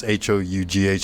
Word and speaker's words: Hough: But this is directed by John Ho, or Hoff, one or the other. It's Hough.